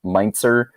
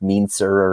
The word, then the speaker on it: Meintzer: hard to pronounce it's meintzer people always were mispronouncing it so sometimes they called me by my last name but they mispronounced it like mean sir or menser answer's not bad yeah